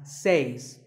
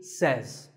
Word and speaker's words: says: two is says this word is commonly mispronounced by people learning English as seis but remember I say you say but he or she says number three is etc a